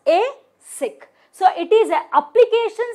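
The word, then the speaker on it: ASIC: okay so AIC a it is pronounced as a sick so it is a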